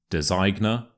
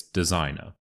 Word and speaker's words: designer: word is designer so we have a silent G here which means that you may as well pretend that it doesn't exist so it's not designa Designer mm it's designer designer okay the next word is